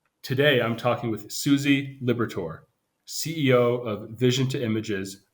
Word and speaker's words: Liberatore: a passion for all things graphic design suszie Liberator I got the last name right yes did I pronounce it correctly awesome so great to have